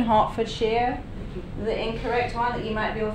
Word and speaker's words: Hertfordshire: not I'm from a town called Watford in Hartford shear this is the correct pronunciation Hartford shear the incorrect you might people think he Hertfordshire it's not how you say it but but